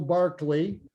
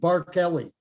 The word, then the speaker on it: Barkeley: to connect with bill barkley the best spot is on his website but don't think barkley think of bar kelly the way the name is spelt yep because there are